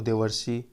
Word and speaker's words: देवर्षि: तो इसी प्रकार देख लीजिए दो प्लस ऋषि, री का अर हो जाएगा तो देवर्षि। यहाँ पर देवर्षि अर आ रहा है उच्चारण में।